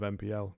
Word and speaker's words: MPL: mispronounced on the cast getting told off for saying nipple instead of MPL because nipple rolls better than MPL to be honest with